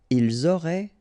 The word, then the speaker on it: ils auraient: Ils auraient, remember, ENT, you don't pronounce it, auraient, ils auraient, elles auraient.